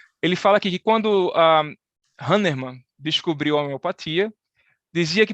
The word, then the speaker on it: Hahnemann: Eu falei, Marcelo, como é que se pronuncia isso aí? Diz aí. Hahnemann.